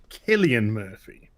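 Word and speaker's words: Cillian Murphy: don't know who they are but hey it's pronounced killian murphy killian oh okay okay okay okay only brits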